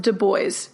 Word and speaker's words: Du Bois: And yes, he wanted it pronounced Du Bois in the English fashion, he told us.